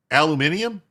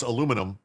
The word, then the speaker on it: aluminium: Aluminium. Aluminium. Aluminium. I know it's aluminum. I like to say aluminium because that's how the British say it.